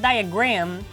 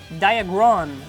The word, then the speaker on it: Diagron: No, it's not diagram. Diagron.